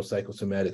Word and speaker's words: psychosomatic: even though we know psychosomatic starts with a P but the p is silent so the way you